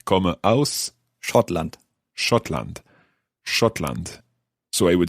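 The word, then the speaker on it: Schottland: come from scotland e comma aus scotland scotland shotland so i would say scotland so good let's hear it in your pronunciation let's try a conversation we're at a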